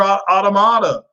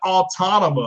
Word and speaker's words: Automata: I still got to beat Nier Automata. Okay, I know people pronounce it Autonoma. I believe it's Automata. Like Yamamoto, Automata.